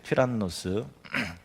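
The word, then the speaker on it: τύραννος: 그렇게 예쁜 이름은 아닙니다 두란노 소원을 헬라 원어로 보면 노스 튜란노스 우리는 두란노 이렇게 했는데 헬라 단어는 튜란노스 의미는 폭입니다 폭군 의외죠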